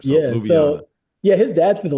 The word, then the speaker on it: Ljubljana: Is it is it Lub Lubanna? Uh Ljubljana. Ljubljana. Yeah, there's a lot of weird consonants in there. So, Lubana.